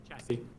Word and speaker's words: chassis: The third S is silent, by the way. Of what? The what? Thing I threw you. The third S is silent? Yeah. Chassis.